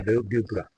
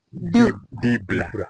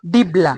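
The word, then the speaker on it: dibbler: This one is a dubra. Dubra. Yes. Here is a dubra. And the container. Pronounce it properly. Dibla. Dibla. D-I-B-B-L-E-R. Dibla.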